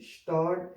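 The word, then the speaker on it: Stadt: इसमें एस के बाद टी आ रहा है, तो एस जो है वो श की आवाज़ आएगी। स्टार्ट, स्टार्ट का मतलब सिटी।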